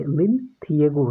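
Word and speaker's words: Linlithgow: द्वितीय विश्व युद्ध में जो भारतीयों का जो सहयोग पाने के लिए वायसराय लिन थिएगो, आप इसका प्रोनाउंसिएशन पे ध्यान दें, लिन थिएगो है, ने घोषणा की कि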